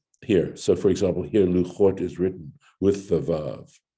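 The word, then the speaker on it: לחת: Rashi on this points out that in the Torah itself, it's spelled lamed chet taf, and it's pronounced luchot, but there's no vav here, right?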